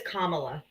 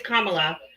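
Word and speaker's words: Kamala: So, my quick question is, what do you think Camila would have done better? Her name is Kamla. Camila. No, it's Kamla. No, you if if you don't say it properly.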